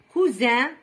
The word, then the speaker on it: cousin: نطقوها Z. Choisir, saisir, isoler, isoler, isoler entre l'I ou l'O, entre deux voyelles. Isoler, cousin, voisin, cuisinière, cousine, cousine le féminin de cousin.